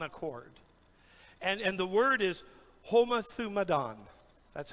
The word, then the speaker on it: homothumadon: And the word is homothumadon. That's how you sound it out phonetically.